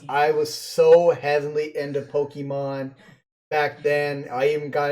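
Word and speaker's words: Pokémon: as a Disney iconic dark queen duck versus Pokemon this one hurts and yes it is pronounced Pokemon not Pokemon or Pokemon this one's tough I want to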